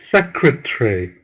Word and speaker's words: secretary: again together sir tree secretary no remember in English three three syllables remember in English that